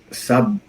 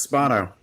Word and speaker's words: Spano: And I'm introducing our amazing guest today, Ty Sabon. Bono. I should have pronounced this ahead of time. It's all good. It's Spano. Spano.